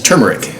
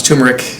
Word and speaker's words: turmeric: One of the other ingredients that's going to jump out at you here is turmeric, which some people pronounce turmeric. It can be done both ways.